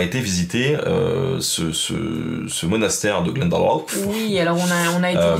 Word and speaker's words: Glendalough: il faut absolument aller voir le monastère de Glendalough, je vais le prononcer comme ça.